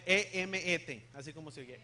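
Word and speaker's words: אמת: Emet. E-M-E-T. Así como se oye. Emet. Emet. M, así como M.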